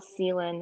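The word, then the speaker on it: Celan: been reading this poet paul selin i think is how you pronounce his last name c-e-l-a-n um and he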